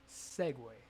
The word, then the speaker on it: segue: It's spelled Segue. Segway. How the fuck does UE equal way?